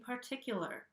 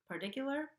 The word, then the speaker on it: particular: vowel sound after, and I'm saying particular with a regular T sound. I'm not saying particular. I can't even say it with a flap T there.